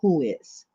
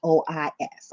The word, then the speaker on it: WHOIS: you hide it from who is. You spell it WHOIS. I had to go to Google and type it in so I can make sure I pronounce it right. But it's called who is.